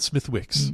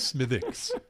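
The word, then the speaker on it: Smithwick's: know we've had conversation but Smith it's not Smith Wix Smith Wix as we do it is smithx they thought that smithx might be a little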